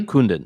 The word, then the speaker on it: Kundun: Is that how you pronounce it? Kundun? Mm-hmm. Kundun, yes.